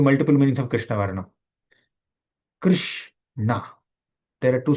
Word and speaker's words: Krishna: Krishna, there are two syllables. In Sanskrit, a syllable is called Varna, right? So Krishna Varnam refers to the two syllables Krish and Na.